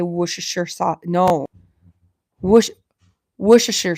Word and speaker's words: Worcestershire: Worcestershire sauce, right? That's how you say it. Worcestershire sauce. Wash your sister sauce.